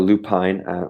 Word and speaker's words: lupine: And so we went up there again to shoot wildflowers, like the lupin they have up there, or lupine, whatever you want, however you want to pronounce it.